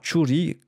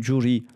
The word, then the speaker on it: Churi: Et ils ne prononceront pas Churi, mais ils vont prononcer Juri.